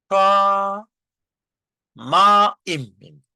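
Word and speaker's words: שמים: 그래서 샤 마임 엑센트 표시가 맨 위에 있기 때문에 샤마임 예 샤 마임 그다음에 바이트 바이트 그 어 이중 모음이 된 경우에는 두 개의 음절로 치지 않고 하나의 음절로 쳐 준단 말이죠. 그래서 예 샤마임 같은 경우에는 몇 음절일까요? 3음절이 아니고 2음절로 칩니다.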